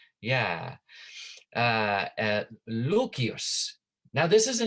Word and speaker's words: Lucius: Lucius is how we pronounce it now, but it actually, in the old way of pronouncing, it's Lucius.